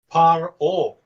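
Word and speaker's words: פרעה: Okay, now, this is how you actually say Pharaoh's name in Hebrew. Paro.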